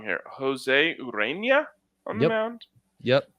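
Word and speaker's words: Ureña: They've got, correct me if I'm wrong here, Jose Urena on the mound. Yep. Great job pronouncing that. Enye.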